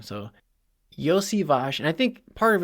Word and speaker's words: Iosivas: So he just calls him Yoshi or Yosh, which is not the correct pronunciation. There's no Yosh sound in there. It's Iosivas.